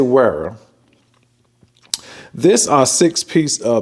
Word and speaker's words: Wera: if this pronounced is Vera or WEA I do know that in some countries they pronounce it w as a v but anyway we just say WEA this uh six piece